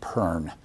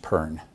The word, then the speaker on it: Bon: Tibetans will all tell you that it's pronounced Pern, and indeed Fisher in your textbook notes that it's pronounced Pern.